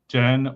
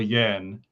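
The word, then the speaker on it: Jehn: a German friend whose surname is spelled J E Hn and whether we call say it pronounce it as Jen or Yen, we seem to go between one of us will say the one of them and then the other one will say the other.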